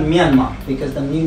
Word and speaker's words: Myanmar: We pronounce it Myanmar.